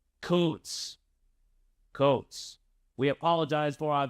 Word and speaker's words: Kuntz: The last name of the German soccer coach we interviewed earlier this week is pronounced Koontz.